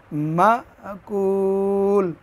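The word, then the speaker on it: مأكول: লাম জের কুলি শব্দটা যেহেতু এখানে ওয়াকফা এজন্য জের উচ্চারণ করা লাগবে না এখানে লামের মধ্যে থামবো এজন্য উচ্চারণটা হবে মাকুল মাকুল সম্মানিত দর্শক আজকের পর্বে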